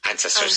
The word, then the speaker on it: ancestors: Ancestors, yeah. With emphasis at the beginning.